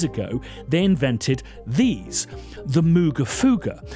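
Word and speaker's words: Moogerfooger: Well, 22 years ago they invented these, the Mooga Fuga, which to my knowledge are not pronounced Moga Fogas, Moga Fugas or Mooga Fogas.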